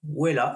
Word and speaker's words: Wella: d'un centre de formation, Wella, si je prononce bien. Voilà. Bonjour Maud. Bonjour Sébastien, c'est très bien prononcé, Wella et Trails the World, c'est bien ça.